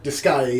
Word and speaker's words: Disgaea: Is it pronounced Disgaea? Disgaea, yeah.